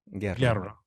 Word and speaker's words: Guerra: Guerra. I would have butchered that, so I'm glad I asked.